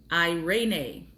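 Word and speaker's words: eirene: word for peace is I rain a sounds like an urban name for a child of 2019 but the Greek word for peace is I rain a is spelled e ir e and E and it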